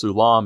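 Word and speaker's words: סולם: The word often translated ladder which is pronounced sulam in Hebrew refers to a mound or constructed embankment.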